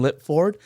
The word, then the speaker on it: Lipford: On today's episode, we have Justin Lip Ford.